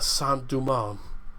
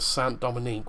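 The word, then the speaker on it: Saint-Domingue: is haiti's native language the french part was a sant duman because i keep pronouncing sant dominique which which turns out is wrong so so so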